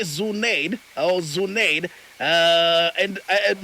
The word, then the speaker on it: Zuneid: about your last name okay it's pronounced as zunaid zunaid um that is